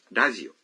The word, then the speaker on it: ラジオ: Television dalam bahasa Inggris misalnya menjadi テレビ dan radio menjadi ラジオ Wah, R dalam radio diucapkan seperti L.